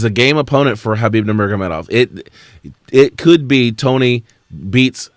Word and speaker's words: Nurmagomedov: with the chain wrestling monster that is Khabib Nurmagomedov. Did I pronounce that right? Yeah, Nurmagomedov.